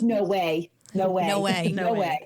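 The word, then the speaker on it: NOAA: no O A so that concludes it's actually pronounced no way no way no way way no way you're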